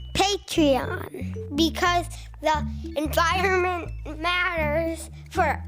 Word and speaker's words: Patreon: on hey how do you say this word patreon patreon because the environment matters for us kids go